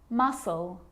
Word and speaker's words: muscle: depth and doubt now the letter C can cause a few problems because it's often silent after the letter s like in these very common examples they're quite tricky muscle muscle scissors fascinate scene scenario muscle scissors